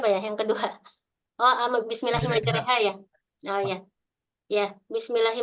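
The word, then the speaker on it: مجريها: Eh istilah-istilah dalam al-qur'an jadi memang ada pengecualian di mana RO di situ dibacanya re dan itu eh sebagaimana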